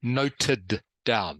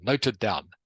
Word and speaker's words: noted down: to D good so you have to pronounce the d okay that's what I'm trying to get everyone to do noted down noted down noted down noted down